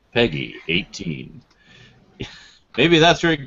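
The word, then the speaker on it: PEGI: e GGI though yeah they pronounce it Peggy like the announcer says Peggy 18 oh oh okay sorry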